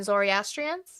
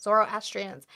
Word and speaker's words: Zoroastrians: This includes uh Jewish people, Christians, Bah I'm not going to say because I'm going to completely butcher them. Uh Bahigh, Sabian Mandians, and Zorastrians. Zoroastrians.